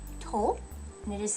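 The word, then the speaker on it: と: tempting to pronounce it too but it's tol like someone's toe right it's not quite such a flat vowel at the end hope what sound do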